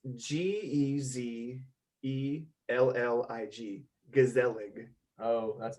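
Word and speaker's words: gezellig: pronunciation too like you're it sounds like you're like really hitting like those z's and like the yeah yeah yeah it's g-e-z e-l-l-i-g gazelling oh that's not even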